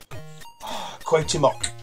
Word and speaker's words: Cuauhtemoc: One of Amstrad games, well, specifically one game, the Lost Treasure of Cuauhtemoc. That's how you pronounce it.